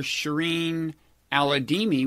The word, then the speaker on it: Shireen Al-Adeimi: And you are Shireen Al-Adeimi, which I think I've correctly pronounced.